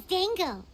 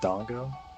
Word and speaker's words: dango: haaka p wants those Dango sure oh it's pronounced Dango and not Dongo well no it would be Dango huh uhhuh those look